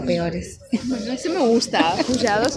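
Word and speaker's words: pushados: Pujados, ¿Cómo se escribe?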